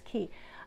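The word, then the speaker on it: Caye: But I also have a Love Notions pattern, the Key Pants. Key, I think it said Key. It's C-A-Y-E, and I'm always afraid I'm pronouncing it wrong, but I'm pretty sure it's Key, that are similar to that.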